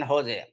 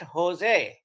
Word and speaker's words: Jose: at how it is spelling but it is pronounced at Jose and I had a great difficulty coming from India to understand I used to go in his when I was working for IBM in San Jose area because my suppliers were all there and